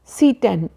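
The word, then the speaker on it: Tsetan: ई टी ए एन इसको हम पढ़ेंगे सीटे सीटे इसको टी से शुरू नहीं होगा क्योंकि इंग्लिश में टी और एस जैसी साउंड स्टार्टिंग में नहीं है यानी इनिशियल लेवल पर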